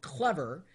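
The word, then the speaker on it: Clevr: sign up for an account it's something called clever that's spelled CLE VR and what it'll do this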